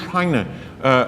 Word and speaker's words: Heine: It is not Heinrich Heine, but it is Heinrich Heine, very Frenchly pronounced, so he became part of the French culture.